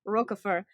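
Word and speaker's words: Roquefort: on the YouTube video we do not pronounce the T I was like cool French man I got you I won't say the T yeah I think it was him roer uh it's mentioned in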